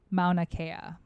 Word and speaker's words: Mauna Kea: peak of an island on earth it's called mauna kea mount akaya no mauna like i don't know